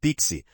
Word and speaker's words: PKCE: Já o PKCE, que se pronuncia Pixi, adiciona uma prova criptográfica